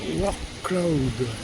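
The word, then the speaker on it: Wrocław: Alors le nom de la ville c'est War Cloud. Ça s'appelle ça s'écrit W R O C L A W.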